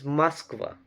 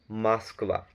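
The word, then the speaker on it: Москва: This is Moskva. Ma, a, sa, ka, va. Moskva.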